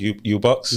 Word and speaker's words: UBX: Okay, so uh so it's Ubox. So it's it's spelled UBX, but it's pronounced Ubox. Ubox.